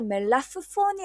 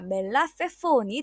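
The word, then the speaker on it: מלפפון: 그래서 페이에 에를 붙여서 페라고 읽고 그래서 멜라프폰이 아니라 멜라페폰이 되는 겁니다.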